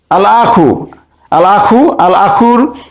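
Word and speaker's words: الأخ: আল আখুর আলিফ লামের লাম উচ্চারণ হচ্ছে, তাই এটিকে আমরা বলতে পারি আল হুরুফুল কমারিয়া।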